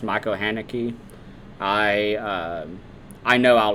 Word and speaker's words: Haneke: It's German, so it should be Haneke.